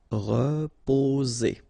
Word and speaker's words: reposer: So here, vowel and vowel, only one S, it's Z, reposer.